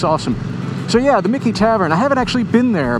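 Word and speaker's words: Michie Tavern: Mickey Tavern. That's how that's pronounced. And this goes back to the 17 late 1700s, so 18th century.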